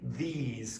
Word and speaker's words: these: That doesn't sound like these to me. It has to be longer.